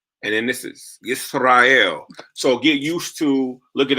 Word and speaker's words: Yisrael: So Israel is Yisrael and Jerusalem is Yerushalayim. So it's the Y.